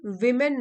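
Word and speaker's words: women: Only विमेन know the importance of Sindoor. वुमेन singular होता है, वुमन, pronunciation देख लीजिए, वुमेन सिंगुलर, प्लूरल हो जाएगा तो विमेन बोलते हैं, विमेन।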